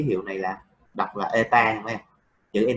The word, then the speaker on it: eta: Đọc là eta này. Chữ n dài đuôi nhưng mà đọc là eta.